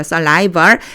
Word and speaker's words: saliva: 요거 saliva라고 읽어요. saliva.